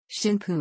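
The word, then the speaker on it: 神風: Shinpu is the on reading, on Yomi or Chinese derived pronunciation of the same characters that formed word kamikaze in Japanese.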